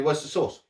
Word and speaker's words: Worcestershire: worcester so you know it does say shire on the end but i guess where